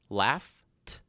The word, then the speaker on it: laughed: What's the final sound of the word laugh? Not the letter, but the final sound. What do you hear? What's the last sound? Laugh. Oh yeah, that's right. F. Right? The sound is f, like letter F. Isn't that right? So, with that being said, f, is that a voiced or unvoiced sound? That's right. That's right. Yes. Unvoiced, so we're going to add t.